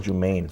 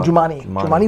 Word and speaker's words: Jumaane: I thought it was Jumaine. No, Jumaane Williams.